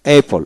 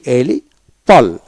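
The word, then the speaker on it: apple: এই পল এই পল এ double P এলই এই পল এপল অর্থাৎ কি ডাবল পি থাকলে একটা পি উচ্চারিত হবে এ পি A Paul এপল এপল catch catch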